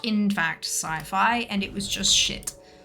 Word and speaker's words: sci-fi: I am aware that it's supposed to be pronounced sci-fi but it's not it's siffy uh all right let us go to the